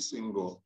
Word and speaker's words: Senghor: did not that's okay it's simply kasi abbayomi singho you know i think that uh african names